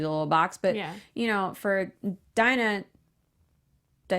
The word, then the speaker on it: Dinah: But for Dinah.